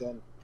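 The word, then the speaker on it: Une: Yeah, I think it's Un. Okay. Pronounced Un.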